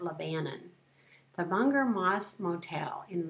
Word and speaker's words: Lebanon: That word looks like Lebanon to me, but if you live in Missouri, you pronounce it Lebanon.